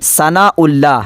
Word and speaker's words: ثناء اللہ: 1 عدد شمار ہوگا۔ اس کا تلفظ اصل میں سا نون الف الف لام لام ہا ہے، یعنی ثناء اللہ الف میں پیش ہے، تو اسی لیے یہ حمزہ نہیں ہے، یہ الف کا قائم مقام ہے، تو اس کے